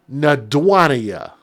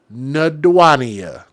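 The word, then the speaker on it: Na'Duania: This woman's name is Nadwania. Nadwania Jones. And I'm sure some of y'all are like, what? How do you spell that? Well, sure, I'll spell it for you. It's N-A apostrophe D-U-A-N-I-A. Nadwania.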